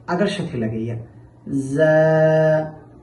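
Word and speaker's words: ز: র র এখন আমরা শিখব জা জা। এই জা হরফটি উচ্চারণের সময় জিহ্বার আগা সামনের নিচের দুই দাঁতের পেট ও আগার সাথে লাগাইয়া উচ্চারণ করতে হবে।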